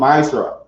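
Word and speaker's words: מעשר: Means tenth in the Hebrew and is pronounced ma'asra.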